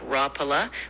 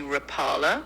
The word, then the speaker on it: Rapala: The original Finnish pronunciation is something like rapala with the emphasis on the first syllable, but a lot of people, especially in the US, say rapala with the emphasis on the second syllable.